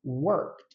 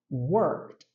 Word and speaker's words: worked: só acrescenta o Ed nós falamos worked worked então eu não falo esse e que tem antes do Ed ou na palavra Talk